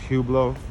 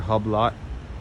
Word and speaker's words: Hublot: store by the way it's pronounced Hublot is not Hublot see you [ __